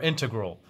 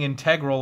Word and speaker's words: integral: Is it integral or integral? Because I keep saying integral like it's something fancy, and he said, oh, it's integral.